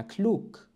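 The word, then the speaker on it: klug: ولو ركزت ستلاحظ بأن كلوك الجي تنطق على أنها كا، وهذا الأمر قمنا بشرحه بسلسلة أسرار النطق، لذلك أؤكد دائما على أهمية التسلسل في الدروس.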